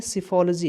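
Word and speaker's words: psephology: तो study of election को आप लोग बोलते हैं सिफोलॉजी, है ना, सिफोलॉजी। सिफोलॉजी की स्पेलिंग मैं लिख दे रहा हूँ, अच्छे से सुनिएगा, समझिएगा।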